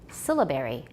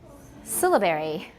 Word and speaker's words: syllabary: syllables rather than segments stress is on the first syllable syllabary syllabary it's called a syllabary that's what we use